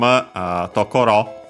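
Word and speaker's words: とこ: far the full form tokoro. Nowadays, in the standard word in Japan, the basic word in standard Japanese nowadays is tokoro. Toko is an abbreviation. Tokoro and accent toko, accent on the last one, so be careful about that.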